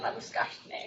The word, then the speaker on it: Labuschagne: So Rian Labuschagne, which now I've learned how to pronounce, he manages FZS's Serengeti Conservation Program in Tanzania.